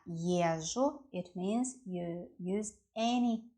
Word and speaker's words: езжу: As for the word ЕЗЖУ, ЕЗ-ЖУ, when we pronounce ЕЗЖУ, it sounds like , it sounds like long ЖЖ.